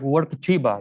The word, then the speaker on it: Workchipa: Yeah, you pronounce it right, Workchipa. Yeah, it's a mix of the words to work and from Curitiba, Workchipa.